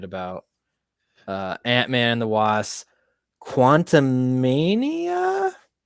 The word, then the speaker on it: Quantumania: uh Ant-Man the WASP Quantum Mania did I pronounce that right quantumania it's going to be